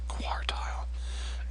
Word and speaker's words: quartile: hard to pronounce I quartile it's almost like a w score tile is how you pronounce that and spelled quar di